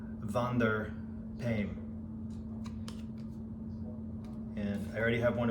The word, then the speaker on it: Wander Paim: now i can't rule the r so my pronunciation is not completely correct van der payne and i already have one of his knives